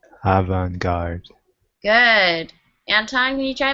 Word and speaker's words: avant-garde: to you um but this word is actually from French so it's not pronounced how you would pronounce regular English words it's actually avant-garde try that avant-garde avant-garde good aunt I'm me